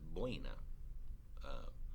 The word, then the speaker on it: boina: So, for instance, boina. Boina means beret in Castellano, as opposed to kepis, which is in Catalan, beret, right? But boina, oi, o, I, that's one syllable.